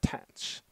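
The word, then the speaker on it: tanh: It's often pronounced as TENSH.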